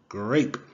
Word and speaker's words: grape: Grape.